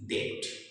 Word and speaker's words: debt: हमने पढ़ा है कि टी के पहले अगर बी हो तो हम बी को नहीं पढ़ते हैं, तो टी के ठीक पहले बी आ रहा है तो हम यहाँ बी को नहीं पढ़ेंगे। अब आप बी को हटाकर पढ़िए, DET, डेट। The word is डेट।